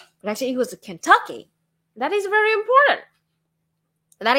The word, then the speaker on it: Kentucky: And I emphasized on the wrong syllable. I thought it was Kentucky, but actually it was Kentucky.